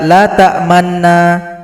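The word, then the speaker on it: تَأْمَنَّا: Artinya huruf nun ini harus kita baca dengan memonyongkan bibir kita. Jadi asal katanya adalah la ta'manuna. Nah, jadi bunyi huruf nun yang dhammah di sini disembunyikan, maka kita timbulkan dengan ishmam. Jadi cara bacanya mesti kita praktek atau talaki dengan guru kita masing-masing. Perhatikan posisi mulut ketika baca ini. Jadi kata la ta'manna dibaca dengan SMS. Senyum, monyong, senyum.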